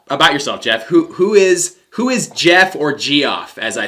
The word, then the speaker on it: Geoff: Who is Geoff or Geoff, as I say? Geoff. Well, first of all, I got to thank my parents for naming me Geoff. Pronounced Jeff, but none of my friends ever got it right.